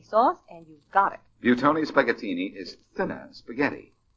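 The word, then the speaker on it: Buitoni: That's spelled B UI T O N I. Buton specini.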